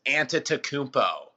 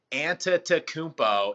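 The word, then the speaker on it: Antetokounmpo: a tough one the Greek freak is yiannis anta to Coombe po anta takubo is how you pronounce the last name yiannis fairly easier on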